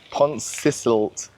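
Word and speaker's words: Pontcysyllte: Pontcisilt. Pontcillite? I'm gonna have to Google how to pronounce that. I actually did see how to pronounce it. Pontcisilt.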